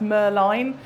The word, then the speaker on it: Merlin: And yes, it should really be pronounced Merline.